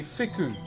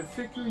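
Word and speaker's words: wheku: So, that's called a fiku. W H K U is how you spell it. So, fiku, you normally find these types of carvings on the apex of our meeting houses.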